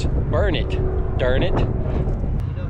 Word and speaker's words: Burnet: one month one day i keep saying burnett because that's the way we would pronounce it in north carolina but here it's burn it darn it you know